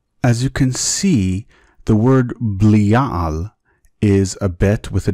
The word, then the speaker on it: Belial: Since the name has been pronounced with a B all these years, the correct pronunciation is Belial.